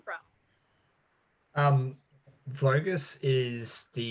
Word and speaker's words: Vogus: your name from um vogus is the uh Hungarian that's the name Hungarian pronunciation of my last name which gives me a